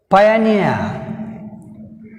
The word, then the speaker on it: pioneer: Pioneer, pioneer, pioneer, pioneer. Here near last syllable, so we have stress on last syllable n.